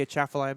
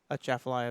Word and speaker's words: Atchafalaya: If there's no A, I think you don't pronounce the A, Yeah, you right? do. You do? Yeah. The Chaffalaya Basin. Yeah, but it's a soft A. It's not a hard A.